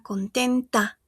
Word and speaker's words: content: Porque como estamos hablando de femenino, ella está contenta, ¿verdad? Esa A que tenemos ahí en español normalmente se reemplaza en francés con una E, ¿d'accord? Entonces, si aquí il est content, solo pronuncio hasta mi EN.